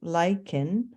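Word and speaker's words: lichen: to reveal bare rock lyans pronounced lyen a union of fungi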